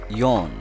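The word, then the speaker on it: よん: is pronounced son Sun four is pronounced yon Yon 5 is pronounced go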